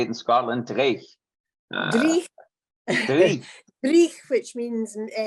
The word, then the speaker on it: dreich: Dreich.